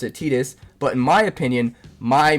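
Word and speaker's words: Tidus: Uh, so to me, it just always made sense to pronounce it Titus. And I know that technically technically it's Tetus and that you're supposed to pronounce it Tetus, but in my opinion, my memories and my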